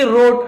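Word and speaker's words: wrote: यहां पर भी डब्ल्यू साइलेंट है। डब्ल्यू आर एक साथ होता है तो हम डब्ल्यू को नहीं पढ़ते। केवल रोट राइट ऐसे पढ़ेंगे।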